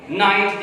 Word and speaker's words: knight: तो बच्चों देख लें, अगर एन से पहले के लगा दें, नाइट, जैसे KNIGHT नाइट, इसका मतलब है ये टाइटल के तौर पर इस्तेमाल होता है वर्ड।